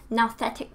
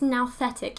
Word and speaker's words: nouthetic: but I think it's now setec even though a part of me wants to say new setec I think it's now that anyway according to Wikipedia